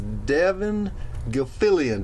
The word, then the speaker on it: Devon Gilfillian: His name is Devon Gilfillian.